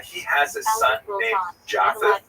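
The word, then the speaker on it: Japheth: Uh he has a son named Jaffa. In the Ashkanazi pronunciation that would be Yafes.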